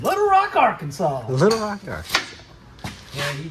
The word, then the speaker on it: Arkansas: you say it I I say it Arkansas but it's spelled it's spelled it's jacked up it's AR Kansas yeah y'all just took Kansas and put Ark on it don't you remember